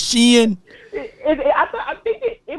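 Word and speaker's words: Shein: the Shen okay she oh that's how you say it's not Shan it's Shen I thought I think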